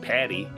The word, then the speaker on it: Pate: Not the traditional spelling of Pate, but there only I can think of pronouncing it. Patty, maybe.